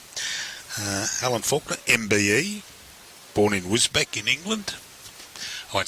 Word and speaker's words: Wisbech: So Wisbech is actually how it's pronounced.